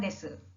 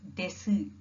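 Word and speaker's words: です: For example, if your name is Maya, you simply say Maya desu. So although in English the spelling is D-E-S-U, you either say des or you say desu. Please don't say desu, which is wrong.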